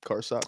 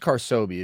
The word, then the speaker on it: Carsobi: Like, what's Carson? What is it? Well, it's pronounced Carsobi, if you were wondering. Tough to read on the handle, but Like Ben I don't know. Kenobi? No, bro.